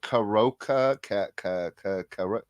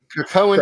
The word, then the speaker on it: Krakoan: So From the Ashes, from what has been going on with the Karoka era, whatever you say. Krakoan era. Three syllables.